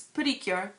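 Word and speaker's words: PreCure: So you might see it spelled like pre-cure, but it's actually pronounced putty, like for small, kind of. So, but it's Putty-Cure. And the very beginning, the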